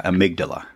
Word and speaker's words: amygdala: um am I saying it right the Omega amygdala yeah amygdala amygdala okay about about that and about that